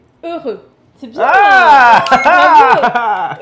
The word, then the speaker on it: heureux: I know the H is silent, so E and U together mm-hmm. means E. E. Heureux. C'est bien. Ah! Heureux.